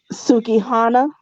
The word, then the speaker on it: Sukihana: what you heard and then the other girl sukiana is how you say her name because you know i'll be messing everybody name out sukihana sukihana and her only fans video we're also